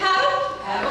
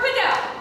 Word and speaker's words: padel: that's coming I'm sorry is it pronounced padle or padel that's the biggest argument of the week P it's padle okay I've heard padel I've heard and people